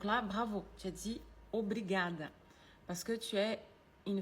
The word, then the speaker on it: obrigada: Par contre, on dit pas obligada pour consig professor de história e geografia muito bonitinho.